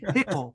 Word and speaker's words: Hickle: So it's like Hickle rhymes with pickle.